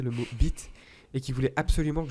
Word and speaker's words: bite: Imaginez que vous répondez à une question avec assurance. Bi. Te. Voilà, oubliez pas de laisser un très léger temps entre les deux syllabes.